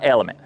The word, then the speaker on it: LMNT: Element, pronounced element, it's health through hydration.